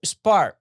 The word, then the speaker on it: Spahr: And today we are going to talk with Spahr. And I pronounce it correct? That's right. That, silent H throws everybody off. Spahr, yeah.